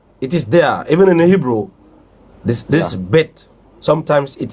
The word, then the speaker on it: Bet: Even in the Hebrew, this bet, sometimes it sounds as vet. Vet, yeah. When we have a nukud within it, it becomes bet. But without a nukud, it becomes vet.